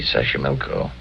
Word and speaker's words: Xochimilco: So you pronounce it better than I do. It's easy, Xochimilco.